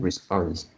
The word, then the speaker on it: response: Yeah, I think this one, the first word, the first syllable is more like so it's Re- response. It's not, Respond. yeah, it's not rest, it's res.